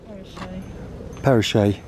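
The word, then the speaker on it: Pheriche: smile on my face walking out of the peresh Village is that you pronounce it come across a herd of yaks parashay yes well that was one one of our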